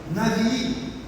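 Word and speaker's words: נביא: uma mensagem por isso a palavra Hebraica para profeta se pronuncia navii a palavra Navi ela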